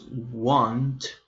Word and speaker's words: won't: Here notice that when you pronounce want, you need to pronounce the letter t at the end.